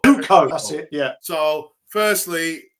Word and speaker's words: Zucco: Zuko. Zuko.